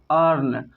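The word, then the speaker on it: earn: तो आर के कारण ई साइलेंट हो जाता है और हम ए को पढ़ते हैं, आर के कारण ई साइलेंट रहता है और हम अ को पढ़ते हैं। यहाँ पे पढ़ते हैं ई साइलेंट है तो हम किसको पढ़ेंगे ए को, तो ए को पढ़ते हैं अ, आर को पढ़ते हैं र, एन को पढ़ते हैं न। तो क्या हो गया अर्न।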